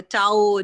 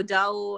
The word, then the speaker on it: Tao: even these words so maybe we are all pronouncing it wrong it's a tau tao and you know a